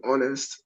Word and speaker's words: honest: to pronounce the word honest, the H is silent. So it's the O at the second letter that is pronounced first. The H is silent, so that makes it take a vowel sound.